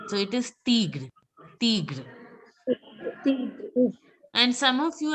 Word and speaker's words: tigre: So it is tigre. Tigre. And some of you, I heard that I saying tigru. It's not tigru, it's just tigre. Tigre.